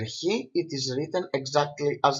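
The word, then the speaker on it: Χ: to pronounce the letter he so it is pronounced the letter he it is written exactly as the letter X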